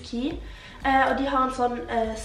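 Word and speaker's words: Quay: Det skrives Kui, men jeg har lært at det uttales Ki.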